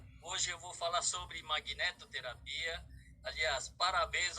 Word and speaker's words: magnetoterapia: com vocês sobre magnetoterapia a pronúncia correta magnetoterapia não é máquina terapia de magnéticos né e Terapia Ok eu